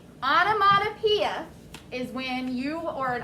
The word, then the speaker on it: onomatopoeia: It's called onomatopoeia, and it's spelled O-N-O-M-A-T-O.